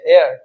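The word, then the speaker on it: heir: তাহলে এখানে এস এর উচ্চারণ হচ্ছে না, ই থেকে উচ্চারণ হচ্ছে, তাই এখানে এন বসবে।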